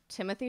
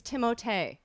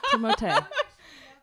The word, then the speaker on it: Timothée: Someone corrected me because I was saying Timothée Chalamet. And and Caitlin Kunkel, you can call her and ask her. She was like, it's Timothée.